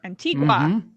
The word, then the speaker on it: Antigua: antigua antigua is that how you say it antigua yep antigua that's right antifa how'd you get